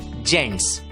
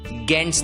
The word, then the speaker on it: GENTS: ध्यान दीजिए, जी के सामने जब ई आता है तब बहुतांश शब्दों में जी की आवाज ग न रहकर ज बन जाती है। GENTS। इस शब्द का उच्चारण होता है जेंट्स, गेंट्स नहीं, जेंट्स।